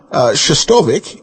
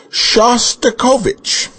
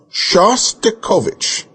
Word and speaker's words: Shostakovich: nice man called and told you how to pronounce it correctly, you still kept saying wrong. It's not Shostakovich, it's Shostakovich. Please do the man the honor of saying his name right. Shostakovich.